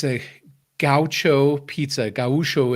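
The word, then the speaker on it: gaúcho: it's a gaucho pizza gawusho is actually the right way to say it and it's uh gaucho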